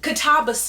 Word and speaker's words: Katabasis: Obviously, this is going to be a review about Katabas is apparently how you say it. Not katabas.